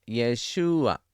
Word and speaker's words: Yeshua: Y para el nombre Mesías es Yeshua, con el acento en la U, que significa Él salvará.